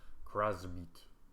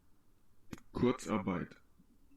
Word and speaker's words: Kurzarbeit: Hassel stresses that Kurzarbeit is not necessarily more expensive than the US-style system of mass layoffs.